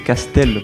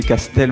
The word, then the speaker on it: Castel: Personne ne l'écrit ou ne le prononce correctement encore. C'està-dire c'est Castel. Bravo pour le français. C'est Castel. Bravo. C A S T E L.